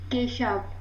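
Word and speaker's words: Kashuv: Keshav. Keshav. Do right? we have the correct pronunciation of no, the correct pronunciation?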